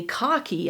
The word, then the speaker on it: khaki: that's because you know I say cocky instead of khaki I'm not being consistent